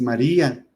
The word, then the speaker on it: María: Pero el nombre es María. Entonces, como la fuerza cae en la I, pues ahí le ponemos el acento, pero ese diptongo se rompe y se vuelve otra, se divide en 2 sílabas.